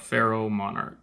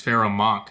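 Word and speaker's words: Pharoahe Monch: talking about what's it how do you say a feral monarch i think that's how it's pronounced hold up pharaoh monarch i don't know why i said pharaoh monarch it's pharaoh monk close enough but yo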